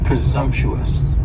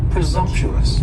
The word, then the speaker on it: presumptuous: is presumptuous and presumptuous has four syllables and the stress is on that second syllable and the S almost sounds a little more like a z presumptuous presumptuous and if somebody is